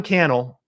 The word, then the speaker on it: Cannell: So I say all that because Sean Cannell, rhymes with YouTube channel, the YouTube guy, is shouting at you from Las Vegas, right?